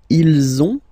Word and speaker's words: ils ont: here, okay, and then you will have to make the little link between the two. Ils ont, ils ont, ils ont, okay, and then feminine form, elles ont, elles ont.